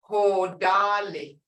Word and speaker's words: Hodali: But listen to the sound. Hodali is wind. Hodali. Tone. Hodali dos. So it's spelled exactly the same way, just the tone is.